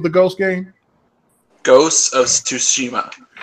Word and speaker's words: Tsushima: Ghost of Tsushima. the TS is like a Z or an SH sound. Yeah. No, it's basically just ignore the T.